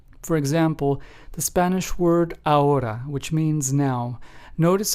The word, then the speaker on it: ahora: the letter H, but we still make the H silent. It is pronounced as ahora and not ahora, right? So, remember, the letter H is always silent in Spanish when pronouncing it in words.